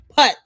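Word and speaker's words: Puth: Putt pronounced putt.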